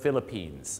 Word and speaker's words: Philippines: ฟิลิปปินส์ ครับ เรา ต้อง ออก สียง ว่า The Philippines ออก เสียง Pan เหมือน Pan เนี่ย นะ ฮะ